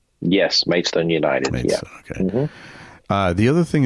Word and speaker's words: Maidstone: So it's pronounced Maidston. Yes. Maidstone United. Maidstone.